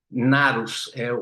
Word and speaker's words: gnarus: Narrar vem do latim narrare, e narrare conecta-se ao narus, o G é mudo, né?